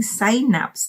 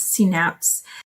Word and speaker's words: synapse: me what why did he keep on saying sign naps in the u.s she took um pharmacy medicine i'm sorry pharmacy doctor she's a pharmacy doctor sabina you should teach your students to pronounce it as synapse synapse synapse synapses synapses i was using sc